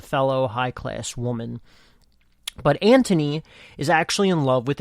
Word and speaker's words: Anthony: So you have Antony is, I believe, how they say it, but it's spelled like Anthony.